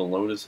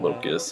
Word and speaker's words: Locus: It was funny because I just realized I read that name wrong. Ooh, Locus. I want that. Locus. I meant to say Locus.